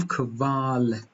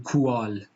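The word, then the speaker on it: Qual: کو و او هستش دو حرف بی صدای کو و او زمانی که پشت سر هم بیان او به و تبدیل میشه برای مثال کلمهای داریم کال کوو کال نمیگیم کوال کال ک رو یه جورایی به صورت ساکن و بلافاصله و رو پشت سرش ادا میکنیم کال ک وال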